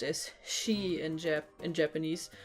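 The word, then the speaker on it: 四: The number 4 is also pronounced as she in Japanese, which is also the same pronunciation as the word for death.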